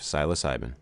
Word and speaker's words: psilocybin: And according to another new study, use of classic psychedelics such as psilocybin, is that how you pronounce that one? Steve, psilocybin.